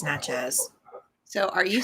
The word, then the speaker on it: Natchez: so you're not pronouncing it right. It's Natchez.